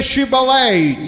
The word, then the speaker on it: Shibboleth: you say Shibboleth.